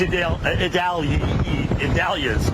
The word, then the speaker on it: Idalia: And it's Idalia's, all right, which if you start saying it fast, you're going to get screwed up. Idalia is how you say it.